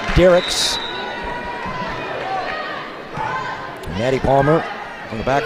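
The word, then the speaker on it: Dierickx: zero ser that's Victoria Derek spells her last name d i e r i c KX unusual spelling and it is pronounced Derek Natty Palmer from the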